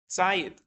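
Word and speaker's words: ציד: We pronounce the word as if it did not have a hey at the end. Tzayit, game, go get me some meat.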